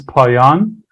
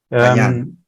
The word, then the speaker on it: Payan: Yeah, the Persian pronunciation is Payan. Payan.